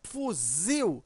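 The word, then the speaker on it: fuzil: aqui a palavra fusil quando você pronuncia fusil você observa que o Zil né Ele é mais forte Veja a sílaba tônica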